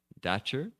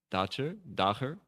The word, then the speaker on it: Dacher: It's Dacher. Dacher. It was German, but he's not German.